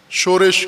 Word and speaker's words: شورش: شورش کہتے ہیں پاکستانی تلفظ میں، شورش کاشمیری، شورش کاشمیری، دو بھائی تھے، ان کے نام تھے شورش کاشمیری.